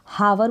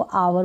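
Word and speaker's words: hour: पढ़ा जाता जैसे की इसमें हावर बोलते हैं नहीं इसको अवर बोलते हैं इसको अवर बोलते हैं हा जो साइलेंट है इसको भी हॉरनेट नहीं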